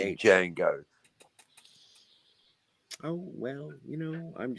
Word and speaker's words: Django: Well, it's like the it's like the D in Django. silent.